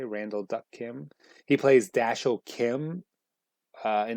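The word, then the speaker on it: Randall Duk Kim: character uh let's see the actor's name is randall duck kim i believe that's his middle name it's pronounced right way randall duck kim he plays daschle kim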